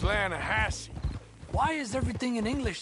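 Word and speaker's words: Lannahechee: caught some beautiful steelhead trout you mean the lah Hatchi River no no no no no no the the lah hatche it runs right near here yeah but it's pronounced lahash why is everything in English said differently than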